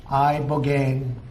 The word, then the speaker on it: Ibogaine: Ibogaine. Remember the name. Is that pronounced relatively properly, would you say?